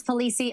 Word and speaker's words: Pulice: Please welcome Thomas Pulice of Las Vegas Aesthetics.